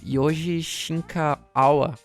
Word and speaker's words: Yoji Shinkawa: Que é o Yoji Shinkawa. Acho que é assim que se pronuncia.